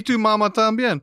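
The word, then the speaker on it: Y tu mamá también: guess I'm saying it wrong no you're saying to mama tambien that's right um and your mama too that's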